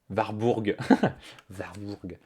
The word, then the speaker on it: Warburg: direction pierre musso et ont rossé plein de prononce comme ça warburg et donc comment s'appelle réseau et société sous